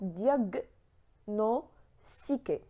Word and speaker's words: diagnostiquer: G plus N on prononce diagnostiquer.